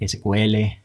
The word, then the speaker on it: SQL: historia de sico verdad se puede pronunciar sql pero vamos a pronunciar los ciclos vamos a acostumbrarnos que nos queda más fácil de esa forma de acuerdo hay una controversia muy grande en Cómo pronunciarlo correctamente pero nosotros simplemente vamos a hablar de secuela aquí de acuerdo Entonces ya